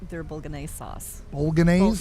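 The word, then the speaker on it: Bolognese: B their Bulan sauce Bulan is that how you say it B ban b g silent thank you B yeah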